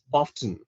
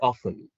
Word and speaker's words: often: For example, often or often, which one do you follow, which one do you say?